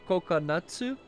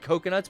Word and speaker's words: Kokonatsu: Brian, his surname is like Kokonatsu. Oh. But it is spelled with a K and like a U, and it's not Coconuts, but everyone just calls them Coconuts.